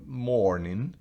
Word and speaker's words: morning: Pero la palabra morning, que se pronuncia muy similar, un poco más larga la E, pero morning.